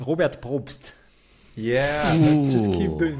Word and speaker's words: Robert Probst: So can you pronounce this in a proper German way? Robert Probst.